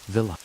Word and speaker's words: villi: The inside of the small intestine is lined with tiny finger-like structures called villi, pronounced villa.